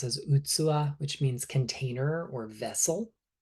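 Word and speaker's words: 器: the left, a word in Japanese that we pronounce as utsuwa, which means container or vessel.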